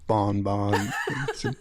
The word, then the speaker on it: bonbon: I like the way you said bonbon. That's actually pronounced bonbon.